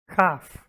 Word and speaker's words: half: I think this one's a sort of subtle difference, but in neither case do we pronounce the L as far as I'm aware. Half.